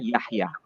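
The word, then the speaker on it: יחיא: Artinya anak laki-laki namanya Yahya Yod Chet Yod Alef, itu dibaca Yahya.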